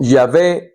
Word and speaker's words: Yahvé: salvación o Dios o Yahvé es salvación. Yahé, que uno lo pronuncia con vocales, pero son consonantes. Cuatro consonantes.